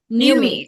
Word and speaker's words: Nuemi: New Niem me, new me. Numi. Okay, Numi. Yeah.